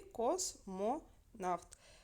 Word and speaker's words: космонавт: нас є три склади космонавт а наголос падає на а на третій склад підкреслили букв в нас